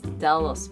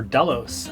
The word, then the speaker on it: Delos: name first of all it's short it's easy to say two syllables and it's easy to a phonetically spell on the radial Delta AKO limo Oscar Sierra so it's not a